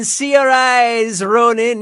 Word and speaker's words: Saoirse Ronan: When Seorais Ronan is smiling. Saoirse says that's the correct way to say her name.